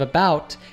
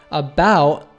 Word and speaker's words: about: Finally, the T at the end of about is a glottal T, about, not about.